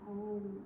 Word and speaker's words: Om: You chant is OM, and it's pronounced A-U-M.